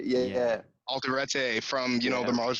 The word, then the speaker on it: Alderete: nick reinhardt and um i i can never pronounce his name correctly because i'm bad at that but uh uh juan juan alderate yeah yeah alderete from you know the mars volta big sir